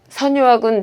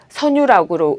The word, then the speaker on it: 선유악: 선유학은 향악 정제입니다. 선유학은 원래 지방 관아의 음악, 즉 교방 정제인데 조선 후기에 궁중 정제로 채택되었습니다. 선유학은 통상 선유락으로 읽는데 이것은 오류입니다.